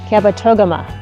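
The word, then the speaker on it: Kabetogama: She said, "You have to pronounce the toga in there." Kabat toama.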